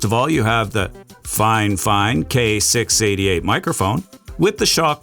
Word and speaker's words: FiFine: And just as a disclaimer, fine, fine. Yes, that is the proper way to say it.